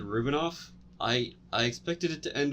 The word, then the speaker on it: Rubinoff: Jake said Rubinov Yeah. when he Sorry. said it. I don't know Oh, how to pronounce things.